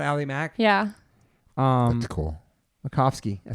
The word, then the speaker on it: Macofsky: Macofsky.